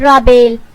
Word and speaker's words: رابیل: یعنی تسلی بخش اور سکون بخش۔ نام ہے رابیل۔ رابیل کے سپیلنگ ہے RABAIL اور اس کے معنی ہے